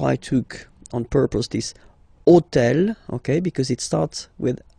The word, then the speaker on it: hôtel: And third example, so I took on purpose this hôtel, okay, because it starts with H, but remember that in French we don't pronounce H, okay, so basically the